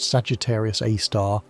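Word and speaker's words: Sagittarius A*: The Milky Way's central black hole called Sagittarius A, pronounced Sagittarius A star, has a mass of about 4 million suns.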